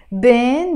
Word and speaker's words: بين: بين, between. Sometimes I can pronounce this بين as بين. بين. Up to you. You can pronounce it either بين or بين.